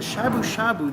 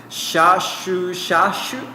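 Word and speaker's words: shabu-shabu: Shashu. Shabu shabu. Sushi. No! Shabu shabu. I'm following, but I'm not understanding. Is this It's literally 2 words. And it's the same word twice.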